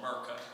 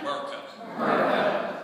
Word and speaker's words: Merca: And when the actual way to say it like rednecks, the 4th way, it's called Merca. Say it with me, Merca. M-E-R-C-A. That is the real homeboy from the South way to say that, refer to this great country.